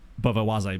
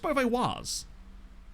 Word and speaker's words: Beauvais: I have no idea who's going to play in this game against Bovoise, because... Actually, it's just Beauvais. Because there's no like accent on the E.